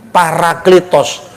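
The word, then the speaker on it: παράκλητος: lah bacanya para atau peri. Paraklitos.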